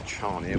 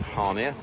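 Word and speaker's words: Chania: i a um so some of you may know it is chia but the locals call it hania um and as we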